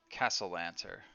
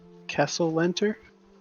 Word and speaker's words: Castellanter: Castellanter. Castle Lantern? Castle lantern? Not lantern. Here, I'll spell it out for you guys. Sounds like castle.